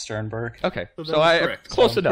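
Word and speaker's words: Stiernberg: your last name wrong didn't I it's just pronounced Sternberg okay so I close enough pretty simple sweet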